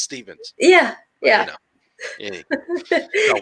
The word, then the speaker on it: Stevens: Well, you know, my last name's Stevens, okay, with a V. And I have a lot of people spell it with a PH. It's like, no, it's not Steffens, it's Stevens.